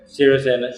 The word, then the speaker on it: Sirisena: Sri, how do you pronounce it again? Sirisena.